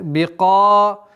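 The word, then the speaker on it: بِقَادِرٍ: Бикадирин. Бика. Твердое произношение фатха. Бикадирин.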